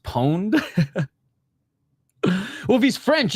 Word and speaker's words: Ponet: It's actually pronounced pon. Well, if he's French, it's pone, right?